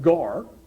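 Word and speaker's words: γάρ: Greek word is it's a little word it's pronounced gar and it means because of God could have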